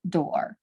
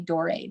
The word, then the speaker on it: Doré: Here is, this illustration is by the French artist, Gustave Doré. I always say Doré, but I know it's Dor. You don't pronounce that E at the end.